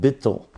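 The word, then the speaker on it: ביטול: Hasidic literature is called bittle I've talked about this number of times bi T tul pronounced bittle so bittle means can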